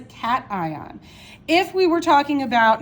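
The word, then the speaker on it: cation: cat ion all right it's not pronounced cashion it is a cat ion if we were talking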